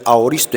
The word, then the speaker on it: aoristo: venido en el griego es un verbo ahoristo así se pronuncia auristo en griego hermanos cuando entonces llegó